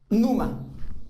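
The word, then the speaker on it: πνεῦμα: significa la palabra es numa ignorándola se escribe así pero se se pronuncia numa que significa viento y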